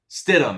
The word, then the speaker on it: Stidham: Stidham, actually, is how you say it. I said it wrong.